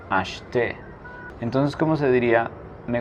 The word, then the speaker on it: acheter: La E del medio no se pronuncia, sería acheter.